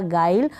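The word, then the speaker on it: guile: होगा, ये बन गया गाइल। यू यहाँ पर साइलेंट है, जी के बाद है इसलिए।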